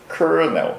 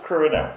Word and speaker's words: colonel: こうやって書くんだ。Colonel. そう。 Colonel.